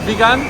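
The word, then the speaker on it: Vigan: keep saying vegan but it's pronounced like vegan as if like you're on the vegan diet let me try and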